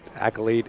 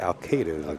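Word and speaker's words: Alcaide: right here is David accolade and Jason Shaw up next after this one folks that it's actually David al-qaeda the way I pronounce his name that was it that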